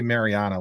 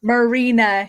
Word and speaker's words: Marina: I want to say I always want to say Mariana which I know that's wrong uh so Marina yeah Marina I mean I could